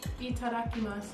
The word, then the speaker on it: Itadakimasu: Itadakimasu.